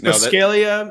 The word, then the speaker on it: Buscaglia: It's Buscaglia. Yes, indeed. I'm not even going to try to pronounce your last name, even though you just told me how to say it.